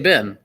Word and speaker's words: Ben: Ben makes fun of me all the time because I say his name wrong all the time. And I say it Ben, right?